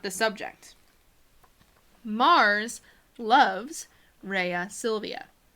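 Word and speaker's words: Rhea Silvia: Mars loves Raya Sylvia you'll hear in the classical Latin pronunciation that bees tend to sound more like double use today a salut yeah but when we translate in English we can use the V sound Raya Silvia eat aqua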